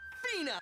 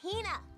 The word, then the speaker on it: Hina: companion, the esteemed archaeologist, Fina. Ugh, you keep saying it wrong. It's Hina.